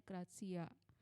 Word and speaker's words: gratia: selama solagracia razia bacanya tulisannya soal gratia Tapi bacanya grazia sudah perlu enggak sih